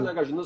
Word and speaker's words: Nagarjuna: Não, pode pronunciar Nagarjuna. Se você chegar nos tibetanos, lá em Varanasi, eles falam para você Nagarjuna e está correto, porque estão dentro da Universidade de Sânscrito, entende?